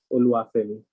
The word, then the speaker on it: Oluwafemi: The pronunciation is Oluwafemi, but you can just call me Femi.